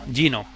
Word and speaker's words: Geno: Gino, pronunciado en inglés, así a lo pijotero.